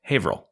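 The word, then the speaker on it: Haverhill: So, Haver Hill. How do they say it? Haveril.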